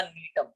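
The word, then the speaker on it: Gnetum: है, तो आप बोलना नीटम। नीटम में जी ये साइलेंट है, ठीक है, एन से शुरू होता है, नीटम, ठीक है।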